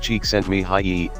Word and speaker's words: Csikszentmihalyi: Csikszentmihalyi, pronounced Csikszentmihalyi, if you're playing along at home, argues that